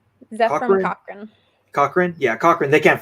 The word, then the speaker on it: Cochrane: Cochrane.